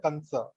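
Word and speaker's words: कंस: We have to pronounce as Kamsa or Kansa. Kamsa only, right? Yeah.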